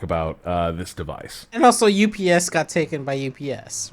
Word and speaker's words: UPS: It is pronounced UPS. I work with a lot of there's a lot of engineers that I hang out with on a regular basis, and they say ups. So it is possible that people have different